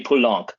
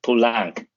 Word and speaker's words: Poulenc: which, by the way, also never say Poulenc. That's wrong. Poulenc, right? So say his name correctly and do Les Mamelles de Tiresias, because it's the craziest, goofiest, most awesome opera ever.